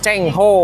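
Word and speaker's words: Zheng He: laksamana Ceng Zen He Oh jadi tulisannya zenhe Tapi bacanya Chen Ho Chen ho bisa gitu ya patung Laksamana zenghhe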